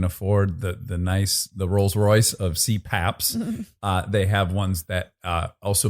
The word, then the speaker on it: CPAP: CPAP machine. CPAP. CPAP. Oh, and I'm saying CPAC.